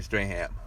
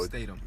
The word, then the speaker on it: Statham: is a spinoff with The Rock and Jason Strahan. So Statham. Statham. That's how you say it, Statham? Yeah, Jason Statham. I've been pronouncing this man's name wrong for years.